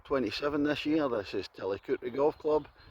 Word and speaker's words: Tillicoultry: I'm in Tillicoultry, which is spelt Tillicoultry but pronounced Tillicoultry.